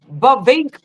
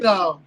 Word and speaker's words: Bovino: Okay, that because you can't pronounce it. You worse than me. I can't get what's his name? Bovink. Say it again. Bovino.